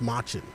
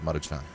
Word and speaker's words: Maruchan: I've always thought that was pronounced machin. No, it's Maruchan.